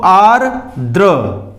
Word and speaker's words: आर्द्र: आ के बाद र का उच्चारण होगा, र के बाद द का होगा, द के बाद र होगा। दो र है, यहां ऊपर भी र है और नीचे भी र है, तो आर्द्र ऐसे बोलेंगे, आर्द्र।